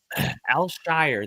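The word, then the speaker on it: Al-Shaair: Al Shire. That's how you pronounce his name.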